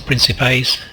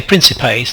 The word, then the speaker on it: principes: of these pripas or principes I would say principes the hard see is kind of a a recent historical development in pronunciation I'm of the older school I think where we